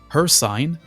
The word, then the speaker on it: Hircine: a onetoone spelling but pronounced as her sign as some AI channels that say cyrodial or cvatch might pronounce it.